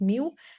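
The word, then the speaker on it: μ: u that you're seeing, it is pronounced as mu, and this is the electron's magnetic moment, and it is measured in amperes square meters.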